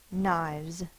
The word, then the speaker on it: knives: remind yourself you can put a slash through the K meaning it does not make a sound n i v z e s and this word Says Z the silent E is part of this ending also it's making the I say its long sound knives the next word singular